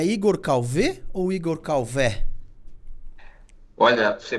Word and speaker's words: Calvet: Então, ele é francês e aí aportuguesou-se abrindo o E. Então, ficou Calvé, né, como todos conhecem, mas também uns falam Calvé, né? Eu só não gosto muito quando pronunciam o T, que aí eu digo que é sempre um T mudo.